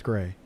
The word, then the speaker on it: Gray: I was like, I'm not even going to mess around, which is why I'm so upset about the Gary thing. I keep calling it Gary. It's Gray.